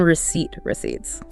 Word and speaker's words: receipts: And remember the silent P in receipts.